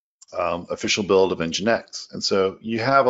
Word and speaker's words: nginx: also going to provide what is nginx hmx pronounced nginx and then they talk about how to use